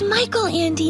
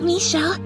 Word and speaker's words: Michael Andy: sound good first off it's Michael Andy not Michelle you really haven't read